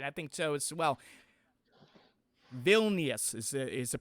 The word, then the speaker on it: Vilnius: Vilnius is the pronunciation correct?